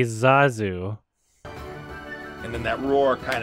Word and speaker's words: Zazu: only two people that pronounced the name right and everybody else who whose introduction to the lion king was john favreau pronounces the name wrong suspicious zazu zazu not you know it's supposed to be zazu and then that roar